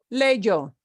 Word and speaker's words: leyó: Leyó. Okay, it's got a funny Y because it's a spelling thing, but it's still pronounced leyó.